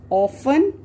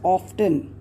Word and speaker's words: often: we often use words like always, never, usually, often, seldom, every day. These are the words which we generally use in a simple present tense sentences. There's one word over here which is generally mispronounced, that is often.